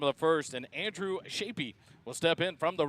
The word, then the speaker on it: Shapey: Shapey, not Shep.